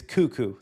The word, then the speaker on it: cuckoo: me to say that I now know it is cuckoo that makes a lot more sense but that is not how cuckoo is spelled and you know it okay so it always trips me up I think cako or C or cuckoo so it's cuckoo like cucko for Cocoa Puffs okay cuckoo Maxine they